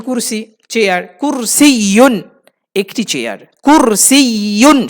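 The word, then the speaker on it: كرسي: এরপর আসে হলো চেয়ার, চেয়ারকে আরবিতে বলে কুরসিয়ুন, আয়াতুল কুরসি চেয়ার, কুরসিয়ুন একটি চেয়ার, কুরসিয়ুন শেষে ইয়ার উপর তাসদিদ আছে, এই জন্য দুটো ইয়া উচ্চারণ করতে হবে একটু ধাক্কা দিয়ে, কুরসিয়ুন, কুরসিয়ুন, হাযা কুরসিয়ুন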